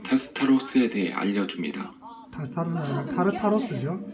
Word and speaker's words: 타르타로스: 이 복잡한 미로 속 어딘가에 타스타로스가 있습니다. 타르타로스죠. 이 사람 자꾸 잘못 발음하네.